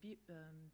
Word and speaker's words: BEUC: I say BEUC, but actually our policy is that we can pronounce it in different ways depending on our language. So there are colleagues that say BEUC, BEUC as well in French.